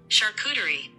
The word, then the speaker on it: charcuterie: As promised, here is my Christmas Eve food board, or as most everyone else in the world says it, charcuterie.